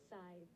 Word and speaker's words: scythe: Scythe. Oh, no. That's American pronunciation, Scythe. Scythe. Oh, British pronunciation is also Scythe.